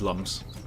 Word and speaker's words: Lums: Apparently, it's pronounced looms even though car. Yeah, in the manual it says looms, but it is lums.